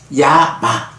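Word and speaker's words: Yama: 야마, 염라 이래 되는데 요 야마라고 하는 말이 발음이 야마, Y-A-M-A 이래서 야마라고 하는 말은 번역된 게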